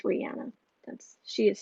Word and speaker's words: Rihanna: she said that is actually the way to pronounce it it's not rihanna it's rihanna that's she has said that just throwing that